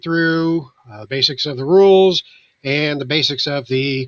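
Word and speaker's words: Rûl: That's R-U-L, and U has a little funny symbol on it. It sounds like Zool, but it's pronounced Rule with an R.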